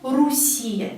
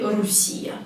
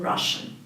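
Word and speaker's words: Россия: the country is not Russia it's Russia we need to write o and we need to pronounce ah because o here is not stressed please don't say urusia please because everyone does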